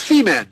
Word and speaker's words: Femen: femen f m en I'm sure it's pronounced differently in French but it's feeman have you ever heard